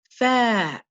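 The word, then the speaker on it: ف: Okay, this letter is called fa, fa. So you have a little circle here that swings out to a semicircle shape with 1 dot. We use the F to represent this letter, and the sound is f, f.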